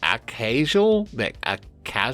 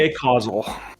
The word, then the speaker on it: Acausal: the Acasual. That would be the Acausal.